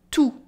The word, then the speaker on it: tout: for you, tu, and tout for everything, tout, tout. With a silent T.